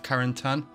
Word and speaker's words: Carentan: So yeah, I heard the mention in the last episode that they were going to the village of Carentan. That's how I pronounce it correctly.